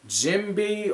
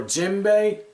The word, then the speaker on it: Jinbe: we find out when jimby or jimbei i haven't seen the enemy yet so i'm not strolling the pronunciation i think it's jimbei he's like yeah i'm